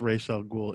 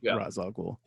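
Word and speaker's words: Ra's al Ghul: how to say it I was convinced it's Ral ghoul in this movie but it's not it's razag yeah I I mean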